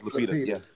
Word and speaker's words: Lupita: Yes, Lupita.